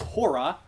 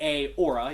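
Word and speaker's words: ὥρα: You have to have an H sound there. You can't go, Joe. Sorry, I won't. It's okay. Yes. Hopra? Yeah, really close. So that second word is hora. Remember, it's row your boat. Yeah. And so it's hey, hora. So there's two rough breathing marks there. So you wouldn't say a ora, you say hey, hora.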